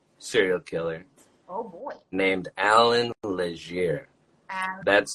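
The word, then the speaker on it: Allan Legere: Named Alan Leger. That's spelled ALLANLEGERE.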